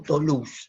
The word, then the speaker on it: Toulouse: Toulouse, así se pronuncia, ¿no?